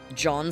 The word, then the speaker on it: Jean: John spelled like Jean.